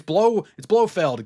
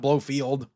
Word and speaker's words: Blofeld: It's Blofeld, Ken, not Blowfield.